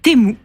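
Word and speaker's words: Temu: semaines de quel site s'agit-il il s'agit de temou alors ça c'est écrit T e m u u ça se prononce temou ouais et c'est un site c'est une plateforme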